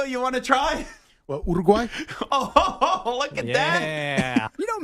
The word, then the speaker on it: Uruguay: I'll accept wait urugay Uruguay urugai I can't say like you got you got to roll the r and you got to